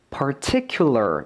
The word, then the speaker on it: particular: 이거보다 조금 더 어려운 난이도의 단어는 바로 이 particular 이란 단어인데 보이시죠? particular 이라고 해서 R과 L이 마구 섞여 있습니다.